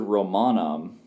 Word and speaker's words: Romanum: You have to know the word Romanum, but Romanum actually has a long O there, which kind of throws a wrench in things because that's just one where it's long by nature and it's part of the root.